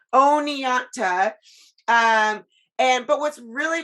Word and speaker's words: Oneonta: and i might say this wrong is it oneonto how do you say oni oneonta oneonta um and but what's really fascinating about sheena